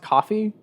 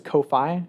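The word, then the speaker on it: Ko-fi: it's so weird because it's pronounced coffee it looks like it says Kofi because it's like k-o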